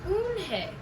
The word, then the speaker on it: Unhei: Your name is Unhei?"